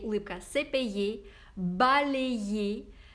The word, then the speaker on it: balayé: Произносим вместе «се пейе», улыбка «се пейе», «балее», «ублие». На конце «е», «е», «е».